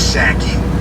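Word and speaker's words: Psaki: of that gen passage yankee i know it's saki that's what saki's better i like pasaki better it's spelled passage that they're they're you know pneumonia uh honestly it's pisseki uh she sets new tone in biden's first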